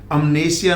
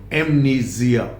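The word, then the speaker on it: amnesia: पहले तो इसका प्रोनाउंसिएशन देखिए, अमनेशिया नहीं बोलेंगे, एमनीजिया।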